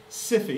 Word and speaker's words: SIFI: In the United States, we said if you are a particularly big company, a systemically important financial institution, SIFI, it rhymes with sicky, just kidding.